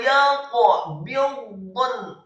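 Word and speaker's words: يَقْبِضْنَ: Dha-nya dibaca tafkhim, posisi lidah kita di langit-langit atas. Kemudian nunnya juga dibaca sukun. Wa yaqbidun.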